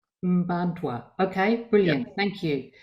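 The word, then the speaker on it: Mparntwe: It's pronounced Mbantwa. Mbantwa.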